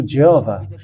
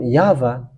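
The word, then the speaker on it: יהוה: Protestant has ched into Jehovah first of all uh this hasn't been called by Jews because Jews has called him have called him yava that's what I have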